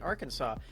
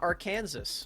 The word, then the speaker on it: Arkansas: why are they saying arkansas uh and not arkansas well that's because america is just kind of like that you know uh sometimes the s is silent um luckily the s